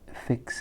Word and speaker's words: fixed: That fixed, that ed adds another syllable.